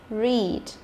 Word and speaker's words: read: Và EA ở trong trường hợp này thì nó cũng phát âm là âm y dài, đúng không?